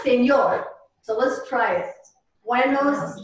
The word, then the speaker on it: señor: So over the N in señor, you should see what's called a tilde, which makes it sound like an NY, as in canyons. So it's not señor, I can't even say it the way. It's señor.